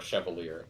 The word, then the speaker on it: Chevalier: Or Chevalier, if you want to pronounce it like a British person.